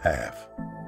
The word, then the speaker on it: Pfaff: is written by heath paff by the way i pronounced heath's last name correctly half p f a f f the first f is silent not the b i